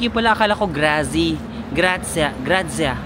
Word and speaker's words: Grazie: Grazia. Parang ganun nila pinapronounce, no? Parang may T, pero letter Z-I-E dapat. Akala ko Grazie. Parang Grazia. Parang nasa between siya ng Z tsaka Zia. Grazie. Grazie. Ganon, Grazie. Sa Spain, gracias, di ba?